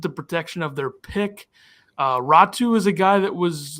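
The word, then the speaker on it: Räty: So his name's pronounced Ratu?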